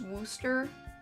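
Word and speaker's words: Worcester: crazy that's the JB pronunciation is Wooster so weird it's not even spelled like that at all I don't I don't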